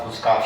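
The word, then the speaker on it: foolscap: oh, you have a full scarf sheet. It is not full, it's not F-U-L-L, because you'll be tempted to go for F-U-L-L.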